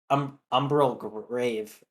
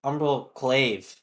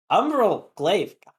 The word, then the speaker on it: Umbral Glaive: But with just the support item, with just the Umbral Grave. Umbral Glaive. Bleh. I hate that because I always mispronounce it. The Umbral Grave. Umbral Glaive.